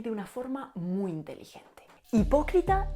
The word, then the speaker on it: hipócrita: Hipócrita se escribe actualmente con H, pero esta H en la norma sevillana no se aspiraba porque no viene de una F latina, sino que viene del griego.